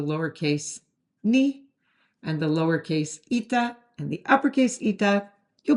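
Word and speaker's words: ήτα: And yes, this lowercase e sound, which is the letter ita, looks like our lowercase n. I'm sorry, I didn't invent the system, but the letter is ita.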